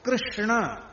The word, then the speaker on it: कृष्ण: सांप नहीं बोलेंगे शाप बोलेंगे श्याप उच्चारण है क्यों नहीं कहेंगे क्यों है क्यों कहेंगे क्यों अब देखो कृष्ण यह शुद्ध उच्चारण कृष्ण यह शुद्ध उच्चारण अब